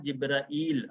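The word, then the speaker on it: جبريل: कुल मन काना अदुव्वन लि जिब्रील, जिब्रील, ये जो जिब्रील है, ये लफ्ज़ इसको पढ़ेंगे जिब्रील, जैसे लिखा हुआ है ऐसे ही इसकी दुरुस्त प्रोनाउंस करना इसको है। और बाकी उर्दू में जैसे हम पढ़ते हैं जिब्राईल हम कहते हैं, रा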